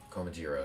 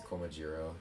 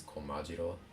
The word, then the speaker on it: Komajiro: It's Komajiro in English because emphasis is on the G, and just because English. And in Japanese, it's Komajiro. Emphasis on the ma, and I don't know why it's different.